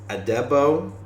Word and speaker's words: Adebo: the Saints and the Saints traded cornerback Paulson adebo that's how you say his name um and